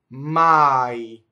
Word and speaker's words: mai: This does not rhyme with my in English. My. Ma, it's a-e. Ma. So start off going for a ma, and then there's a semivowel E at the end.